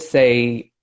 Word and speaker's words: Tsang: I said or Shane it's absolutely silent T so it's just saying say you know and everyone